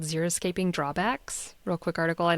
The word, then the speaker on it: Xeriscaping: We are talking about Xeriscaping, which sounds like it's spelled with an X, so it's Xeri scaping.